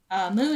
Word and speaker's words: MW: Moo is spelled MW, by the way.